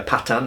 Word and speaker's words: Pathan: Many of them in fact that the British and Indian armies encountered were in fact Pathans, for example, spelt Pathan, but pronounced usually in India Patan, I believe.